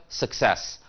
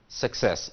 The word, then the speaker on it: success: pronounce it sir sir success all right so the second syllable the second part of the word is a stressed so we say success the verb is to